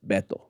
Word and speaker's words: Beto: i i always refer to his name as beto so his name is robert francis he uses the nickname there is a spanish nickname uh for robert which is bethel and he likes to pronounce it beto my view some irish dude is not betel